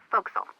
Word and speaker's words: forecastle: ship, but it's pronounced forecastle. Why's that? Try pronouncing it like an English sailor with no formal education. Forecastle. Forecastle.